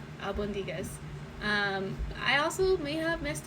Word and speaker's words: albóndigas: So over 100,000 of you have seen me mispronounce Albondigas. I know how to say it now. Might not be perfect, but Albondigas.